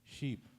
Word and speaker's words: sheep: And when we pronounce sheep, long vowel, it is different.